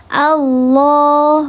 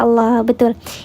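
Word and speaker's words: الله: Ya, maka dibacanya tebal, di pangkal lidahnya diangkat. Allah, bukan Allah, bukan Allah, tidak ada wawunya di situ. Hanya ditebalkan saja pangkal lidahnya.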